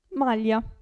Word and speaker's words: maglia: Aglio, si legge, si pronuncia lì. Aglio. E qui? Maglia.